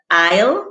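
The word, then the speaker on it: aisle: it's falling its failings are limited larger to i'll which is a-i-s-l-e i mean another word there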